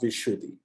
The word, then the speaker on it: Vishuddhi: Okay, sometimes also pronounced Vishuddhi, Vishuddhi, Vishuddha, Vishuddhi. Sometimes you will see it